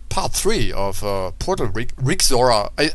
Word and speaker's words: Rexaura: three of uh portal rick zora i i think it's actually spell spelled r-e-x a-u-r-a but i was gonna say pronounced uh rexora i think that is the uh proper pronunciation for this mod um and um yeah